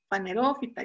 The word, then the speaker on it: fanerófita: No, y aquí justo aprendí que la pronunciación que hago siempre está mal, ¿no? Es caméfita, hemicriptofita, criptófita, pterófita, fanerófita. Yo siempre lo pronunciaba mal.